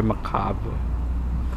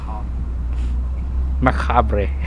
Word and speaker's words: macabre: You're so very macabre. Macabre. How do you pronounce that? Macabre. Macabre. Macabre. Macabre. Macabre. The RE is neglected.